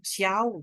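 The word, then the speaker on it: Xiao: S ya agak berbeda Jadi kalau kalian Misalnya namanya ee siiau gitu ya x i a o gitu itu bacanya di depannya hurufnya vokalnya ya saat kita apa oralkan gitu oke huruf s tapi kalau posisinya di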